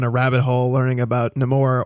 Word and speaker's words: Namor: rabbit hole learning about nemour or as his character name has been traditionally pronounced Namor uh in his backstory